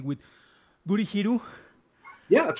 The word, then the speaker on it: Gurihiru: With hopefully I will pronounce the name correctly, with Gurihiru.